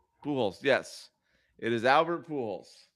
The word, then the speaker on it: Pujols: It is Albert Pujols. Pujolis, Mike. Pujolis. Yes. I don't think they pronounce the J. I'm not sure.